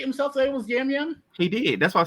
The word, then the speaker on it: Yam: No, his name is definitely Yam.